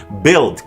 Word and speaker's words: build: U may appear reasonable, but evidence to the contrary is not difficult to find. Build, catalog, dialogue, colleague, guard, guess, laugh, league, tongue.